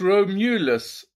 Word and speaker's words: Romulus: alien Romulus hein Romulus non en fait on prononce Romulus alors c'est un bon alien par rapport à